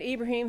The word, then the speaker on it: Ibrahim: in America so I believe we have Raymond Ibrahim on the phone hi hi Debbie yellow nice